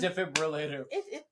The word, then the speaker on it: defibrillator: be used carefully defibr it's defibrillator defibrillator you can pronounce it that way I guess but